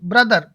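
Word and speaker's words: brother: जैसे कि ब्रदर, क्या है ब्रदर, यानी कि बी आर ओ टी एच ई आर, तो हम ब्रथर नहीं बोलेंगे, ब्रदर, क्या बोलेंगे ब्रदर।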